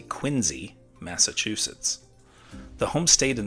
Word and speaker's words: Quincy: Louis and I had the chance to visit John Adams’ home, known as Peacefield, in Quincy, or as the locals say, Quinzy, Massachusetts.